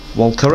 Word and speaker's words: Walkera: Walkera, I think that's how it's pronounced, W-A-L-K-E-R-A.